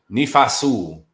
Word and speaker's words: Nephi Sewell: Nephi Sewell.